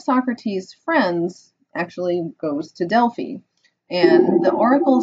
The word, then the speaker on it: Delphi: This photo here is of the ruins of an ancient Greek city called Delphi, sometimes pronounced Delphi.